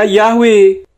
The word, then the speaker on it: Yahweh: YHWH itu transliterasi atau hurufnya. Membacanya Yahweh.